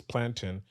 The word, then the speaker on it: plantain: on it's actually prop the proper way to pronounce it is plantin because it's a noun if that's the is